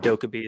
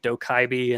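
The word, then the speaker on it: 도깨비: But Mm, the thing that came up is people kept mispronouncing the name Dokkaebi. They were calling it like Dokaibi and things like that.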